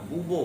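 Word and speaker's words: Bourbon: तो वो क्या किया, तो जिस वंश का लुई 16वां था, उस वंश का नाम था बूबो वंश। आर है लेकिन आर उसमें साइलेंट है।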